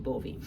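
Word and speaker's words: Gbovi: it a lot and it's called 2-2 bovee um and it's not spelled like that though it's g b o v i two two bovee um but basically it's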